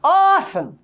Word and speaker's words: órfã: confirmou o acento tônico acontece que se eu deixar essa palavra redigida desta maneira ao falar eu terei que dizer Ufa A menina é órfã Coitadinha mas eu quero transmitir para esta sílaba um som nasal eu quero que o som também saia pelas narinas para eu conseguir isso olha o que eu vou fazer bom então vocês vão dizer Órfã não vamos ver o sofá